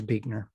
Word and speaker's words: Buechner: well i've learned that his name is not pronounced the way it's spelled that is my knowledge